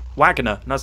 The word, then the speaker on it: Wagner: It's pronounced Wagner. It is Wagner.